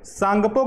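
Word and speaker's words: Tsangpo: में ही ब्रह्मपुत्र को सांगपो के नाम से जाना जाता है क्या है इसकी स्पेलिंग टी से शुरू होती है सांगपो ठीक है ना याद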